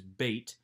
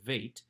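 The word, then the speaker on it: בּ: a Bagad Kafat letter, indicating that hard plosive pronunciation, so that this is bait, not vait.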